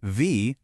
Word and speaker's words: wie: When you see IE, it sounds like E, as in wie, meaning how.